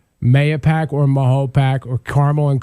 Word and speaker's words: Mahopac: it one other time it depends on your age group that you're in in carmel um you know the the folks that have been here for many years such as myself uh we believe the proper pronunciation is mahopac but those folks that